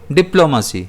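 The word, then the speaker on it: diplomacy: इसे हम प्रोनाउंस करेंगे डिप्लोमेसी जिसमें स्ट्रेस जो है वो पी पर रहेगा।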